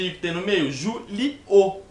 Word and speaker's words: Júlio: Julio. Se fosse com H, não ia ter tom de I e não ia ter essa pausa. Ia ser direto, ia ser Julio.